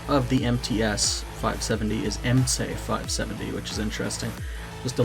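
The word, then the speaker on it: MTS-570: I should say that the proper pronunciation of the MTS 570 is MC 570, which is interesting.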